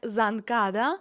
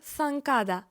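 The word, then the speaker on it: zancada: випад в іспанській мові вимовлятиметься не як занкада а як санкада санкада це слово не вимовлятиметься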